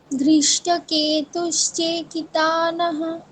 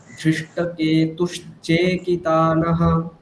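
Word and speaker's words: धृष्टकेतुश्चेकितानः: চেকি চয় একারটা কেউ টানে না, চয় একারটা দীর্ঘ করতে হবে। ধৃষ্টকেতুশ্চেকিতানः, বলুন আবার।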